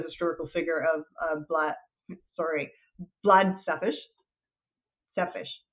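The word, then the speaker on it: Țepeș: Sepish, that's how you say it.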